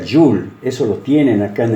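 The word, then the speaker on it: joule: metro es lo que se llama y se escribe así aunque se pronuncia you'll eso lo tienen acá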